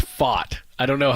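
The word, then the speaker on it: Pfaadt: that but it's Brandon fought well it's the t is silent I guess so and the D are silent yeah fat like fought like I fought somebody which I never would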